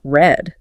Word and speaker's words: read: But, purely based on the timeline of the story, you're suddenly supposed to pronounce it red, like the color.